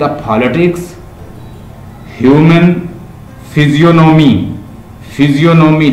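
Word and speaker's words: physiognomy: इन Gulliver travel के अंदर there is a stair on the politics, human फिजियोनॉमी, फिजियोनॉमी लिख लो, PHYSIOG, जी silent है, NOMY, फिजियोनॉमी, फिजियोनॉमी, ह्यूमन फिजियोनॉमी के ऊपर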